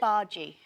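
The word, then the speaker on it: bhaji: Uh we are going to start with the first dish and it is a hash brown uh how do you pronounce it? Baji.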